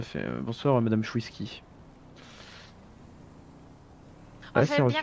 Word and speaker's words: Chouiski: Bonsoir, madame Chouiski. Oh, Ouais, c'est j'aime bien reçu. quand on prononce bien mon nom de famille, ça fait plaisir.